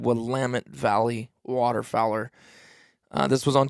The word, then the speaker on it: Willamette: willamette willamette willamette i think it's actually said willamette valley waterfowler this was on tuesday solid non-biased information five stars and the only reason i think i know how to pronounce i'm pretty sure it's willamette correct me if i'm wrong that's an organ